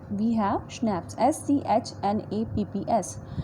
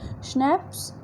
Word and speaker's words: schnapps: We have schnapps, SCHNAPPS, schnapps. It is how it is pronounced, schnapps.